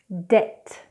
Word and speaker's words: debt: Now, also when we get B and T together, we do not pronounce the B, as in the words depth or doubt. So I'll say it incorrectly. Depth, debt, doubt, doubt. As you can see, it's much easier to say it without pronouncing the B.